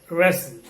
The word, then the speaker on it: wrestle: in this list letter w is absolutely silent wrong wrists wreck wrath right and wrestle okay wrestling wrestling so